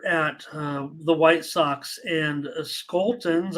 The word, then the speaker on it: Scholtens: the White Sox and Skoltens. I know a little bit about Scholtens, I should say, I think is how it's pronounced.